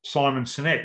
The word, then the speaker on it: Simon Sinek: life is called passion uh that was from simon sinek is that how you say it great cynic